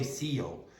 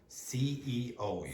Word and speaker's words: CEO: No, don't say CEO. CEO. You have to pronounce all the letters.